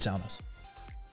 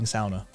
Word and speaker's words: sauna: sauna we all need saunas and yes i'm actually saying sauna rather than sauna which is the standard north american pronunciation um but yeah uh